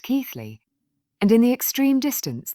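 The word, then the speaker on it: Keighley: air valley at Bingley, Keithley, pronounced Keithley, and in the extreme distance the hills around Skipton.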